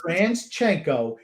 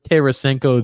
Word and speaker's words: Tarasenko: I don't care if it's Transchenko is a running joke in this I don't house.